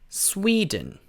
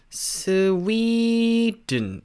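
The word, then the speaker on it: Sweden: 어떻게 발음을 하냐면요. 이 나라는 스웨덴이 아니고 스웨덴 이렇게 발음을 해줘요. 스웨덴 이렇게 되는 거예요. 스웨덴. 그래서 수웨가 아니라 스위가 돼요. 스위. 네. 그래서 스위라고 좀 길게 빼준 다음에 든이라고 그냥 내려주시면 됩니다.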